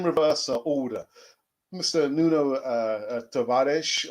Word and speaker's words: Tavares: order mr nuno uh tavares or chabadis i prefer the spanish pronunciation tavares um i sort of